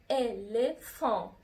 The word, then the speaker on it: éléphant: éléphant يعني فيل، دونك اون دي éléphant. اخدتوا بالكم نطقت الا ان في الاي اون éléphant، والاو ان كانت اون زي سيترون زي افيون، دونك انا دي اون اي اون.